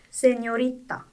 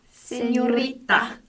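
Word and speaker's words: señorita: 그게 정확히는 N의 발음을 살려서 세뇨리타라고 읽어요. 따라해 볼까요? 세뇨리타. 세뇨리타.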